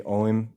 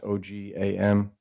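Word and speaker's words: Ogham: from the Agam, or I know the modern people they say Oim now, but it used to be like pronounced Ogam, Agam.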